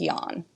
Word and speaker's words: Jan: And then Jan, which is spelled like Jan, but it is pronounced Jan.